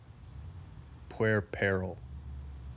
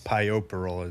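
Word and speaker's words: puerperal: can look p-u-e-r-p e-r-a-l puer peril is how I read it but it's pioperol is how you pronounce it fever yeah there's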